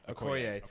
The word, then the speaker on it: Okoye: The general Okoye. Okoye.